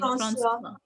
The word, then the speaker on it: François: Ma'am, how do you pronounce his Yeah, name? François.